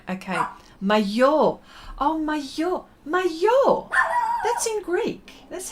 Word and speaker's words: maillot: Maillot. You got the bain right. Okay. Maillot. Oh, maillot.